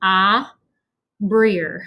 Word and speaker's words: Abrir: So Abrir. So I'll tell you what I would write for the first one, just so you have an idea. I would write Ahbreer.